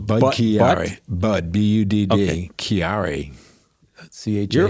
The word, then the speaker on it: Budd-Chiari: More syllables. Budd-Chiari.